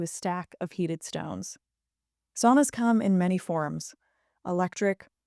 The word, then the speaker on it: sauna: Um, also in Finnish, sauna is pronounced sauna, not sauna as I just said it.